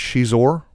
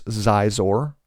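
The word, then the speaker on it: Xizor: You guys obviously have heard I pronounce it Prince Shizor. That is one thing that some people disagree with, the pronunciation of that character's name. Some people call him Prince Zizor.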